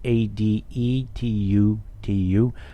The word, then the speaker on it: Adetutu: Emmanuel Adetutu, I think that's how his last name's pronounced, Adetutu, designer and developer of